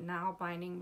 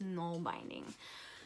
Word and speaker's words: Nalbinding: called null binding I think I called it now binding before but it's actually pronounced non binding so um I promised you a little snippet